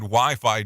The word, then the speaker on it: Wi-Fi: The Fi in Wi-Fi doesn't mean anything. Its creator just called it that because it rhymes with hi-fi.